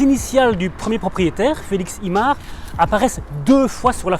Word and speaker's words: Imart: Il se trouve rue du Brou numéro 32 et on l'appelle l'immeuble Imart du nom de son premier propriétaire, Félix Imart. Ça s'écrit Y-M-A-R-T.